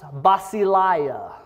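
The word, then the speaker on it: βασιλεία: The word in Greek is pronounced basileia.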